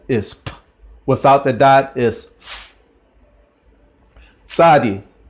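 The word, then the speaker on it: צדי: the dot is shadi shadi is another letter that we don't have in English is basically a T TS or sometimes it's written T Z and it's kind of like if you're saying pizza that sound there cool okay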